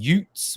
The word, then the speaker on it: y00ts: So it's spelled Utes, which is Y00TS.